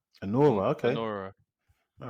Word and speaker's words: Anora: So the first one that Emmanuel's going to do is, how do you pronounce this one? Anora. Anora.